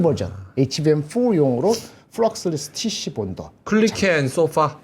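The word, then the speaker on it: Kulicke & Soffa: 클리케 앤 소파. 아, 그래. 그 발음이 헷갈렸어.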